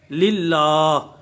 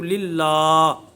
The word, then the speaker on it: للہ: وہ ان ہجوں کا۔ اب یہ دونوں کو جمع کر کے پڑھیں گے، للہ، یعنی پہلے یہ ہجے کیے تو لل بنا، یہ ہجے کیے تو لا بنا، اب ان دونوں کو ملا کر پڑھیں گے تو للہ، کھڑی زبر کا خیال دراز کریں گے.